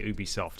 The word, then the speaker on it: Ubisoft: or ubisoft well the the french people say ubisoft and it's their company so yeah that's what